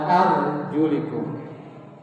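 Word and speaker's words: أَرْجُلِكُمْ: Hanya beda membaca harkat. Ada arjulakum. Ada arjulikum. Yang membaca arjulakum itu kalau wudu membasuh kaki. Wabsahu biruusikum wa arjul. Tapi kalau yang membacanya wsahu biruusikum waulikum kakinya cukup diusap.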